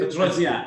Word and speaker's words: Petrosyan: Petrosyan? Adelia Petrosyan, right? Petrosyan. It almost sounds French, doesn't it? Just like Armenian, right?